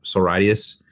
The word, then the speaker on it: Sororitas: Sororitas? Sororitas. It's sorority, but Latinified. Sororitas.